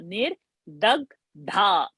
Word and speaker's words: निर्दग्ध: महापाशुपतास्त्राग्निर्दग्धासुरसैनिका To remember, nir the is alpa prana and dha is a mahaprana. Nir dag dha. So this both we'll have to show the difference in our pronunciation.